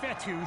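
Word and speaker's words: Fetu: their drive so coach fetty spelled f-e-t-u for the longest time i was pronouncing it coach fedo like feta cheese so let's just say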